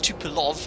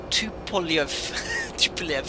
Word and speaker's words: Tupolev: Tesla got actually, no, Tupolev is not pronounced Tupolev, it's pronounced Tupolev.